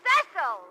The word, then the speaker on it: Cecil: Darling, it's pronounced Cecil.